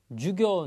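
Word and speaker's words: 授業: 나와 있는 단어가 요 유교 인데요 앞에 이 쥐는 발음이 짧고 기획 요가 발음이 길다 라는 것 6 요런거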